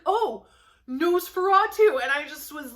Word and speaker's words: Nosferatu: rabbit trail okay next nosferatu by joe hill yes that's how you pronounce that which i didn't even realize until ivan took one look at the cover and he's like oh nosferatu and i just was